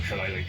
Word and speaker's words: Shillelagh: Yes, it's Shillelagh. It's a druid spell. Okay. How do you spell that?